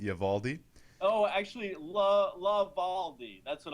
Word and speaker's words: Eovaldi: How do you pronounce his last name? Eovaldi. Eovaldi.